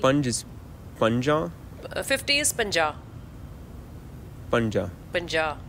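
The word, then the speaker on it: ਪੰਜਾਹ: 50 is panja. Panja. Panja. Like, it's not panja, the way they say it, the stress is on the last letter.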